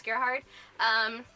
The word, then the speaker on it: Gerhard: I'm sorry for mispronouncing your name as Gerard when it's Gerhard.